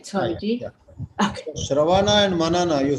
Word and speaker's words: Shravana: Shravana and Manana, you said it right.